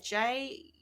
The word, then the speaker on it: jumeaux: Well, if I'm saying it right, it's spelled. Yeah. Spelled. It's Jumeaux.